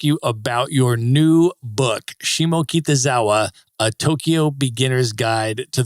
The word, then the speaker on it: Shimokitazawa: And now, Becky, I want to ask you about your new book, Shimokitazawa, A Tokyo Beginner's Guide to the World's Most Walkable Neighborhood.